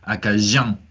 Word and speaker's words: acadien: Et une autre différence de prononciation, j'ai remarqué, DI, il prononce comme je, comme canadien, acadien. C'est vrai. Acadien. Je suis acadien. C'est vrai. Comme un J, un peu, un cadien.